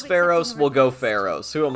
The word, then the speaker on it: Pharos: the Dark Hour uh pheros me personally I prefer to pronounce it faros because that just seems like correct to me but you know what if he says Pharos we'll go Pharos who